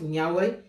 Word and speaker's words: Niaoré: On prononce Niaoré.